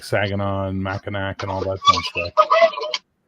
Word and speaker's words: Saginaw: I'm pronouncing it right now, Clio and Saginaw, because one of the adventures in this book, I reviewed it and pronounced both those city names completely wrongly.